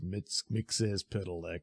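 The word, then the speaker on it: Mxyzptlk: And the immediate things, oh, is this a reference to the fifth dimension with, Mitzelplick? I know it's Mixes-Piddleck, but geez, I hate that pronunciation.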